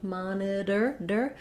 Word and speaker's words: monitor: Then our letter T says a flap sound, monitor. This is the same thing that letter D says in the middle of words, especially double D or double T. So thinking of it as being two Ds is going to help you with the vowel here, because we would say knitter, or that's the same as this, knitter. Again, those T's and D's are what's called a flap.